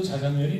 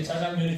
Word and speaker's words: 자장면: 이게 왜 그러냐 하면, 이게 이제 언어 규범적으로도 자장면이 맞고, 역사적으로도 자장면이 맞습니다. 그런데 이게 이제 우리나라 사람들이 되게 센 발음 이걸 좋아해요. 예, 그러다 보니까 이게 어느 때부터인가 이게 짜장면이 된 건데, 그래서 제가 책을 하나